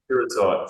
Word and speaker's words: pyrrhotite: promising with a 20-meter intersection and a strong pyrohotite. How do you say that? I can't pronounce it either, so don't worry. I'm not. Okay, fine. Okay. Pyrrhotite, so yeah.